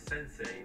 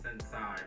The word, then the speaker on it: Sensei: Number two, it's Sensei, not Sensei or Sensei.